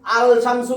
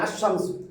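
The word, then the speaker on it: الشمس: যদি আলিফ লাম দেই আলশামসু কেউ পড়তে পারবে না আশশামসুম তার মানে লামের উচ্চারণ তো হয় নাই আলিফ লামের লামের উচ্চারণ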